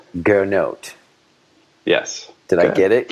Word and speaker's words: Gernot: But, there is actually a T that's non-silent, but then it ends up turning into Gernot. And I'd much rather have the sort of no T, long O pronunciation. Most people say it that way, Gernot.